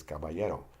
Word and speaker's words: caballero: The double L has a different sound than a single L. It is pronounced like the Y in English. An example is caballero, which is gentleman.